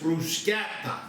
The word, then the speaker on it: bruschetta: you tell them that it's not crushed as commonly pronounced in america with that sh it's bruschetta okay so we're going to